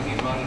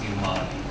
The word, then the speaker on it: Human: And the pronunciation of the surname was correct, Iman, but in the Ntlabane where I grew up, it's Iman.